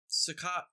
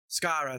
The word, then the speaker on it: Skaro: I think it's I think they're on Sakat, the Daleks' homeworld. I always forget how to pronounce that place. And Missy's there as well. Skaro, thank you.